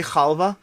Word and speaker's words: halva: keep going we got halva or pronounced halva i say khalva with the the jewish sea chalva this is delicious by